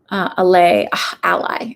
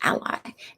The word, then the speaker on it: Alai: And you like, again, that guy Joseph Ali, ALAI, ally is how you say it, ally.